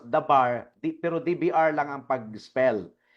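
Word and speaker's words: דבר: word sa Hebrew language DBR lang iyan it is pronounced as the bar pero DBR lang ang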